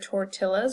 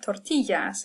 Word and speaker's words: tortillas: We don't order tortillas or quesadillas, hopefully. You're ordering tortillas and quesadillas. And so anytime you see a double L, you're going to hear y.